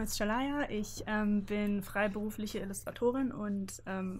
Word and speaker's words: Sherlaya: mir ganz kurz helfen, wie spricht man deinen Künstlernamen aus? Shalaya. Shalaya, also ja. Mit Betonung auf dem A.